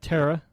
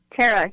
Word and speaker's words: Thara: for having us on now am I pronouncing your name right Tara yes Tara great okay um wanted